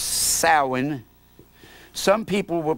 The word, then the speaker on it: Samhain: and it was called sa M Haan it's pronounced soin some people will pronounce it Samhain that is the festival that the Roman Catholics